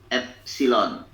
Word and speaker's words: epsilon: Regangan itu notasinya epsilon, ini dibacanya epsilon ya, sama dengan delta L dibagi L.